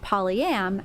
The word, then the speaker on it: polyam: And to be clear, we are now officially, as in a community, declaring that it is pronounced polyam, as in polyamorous, because poly by itself refers to Polynesian people.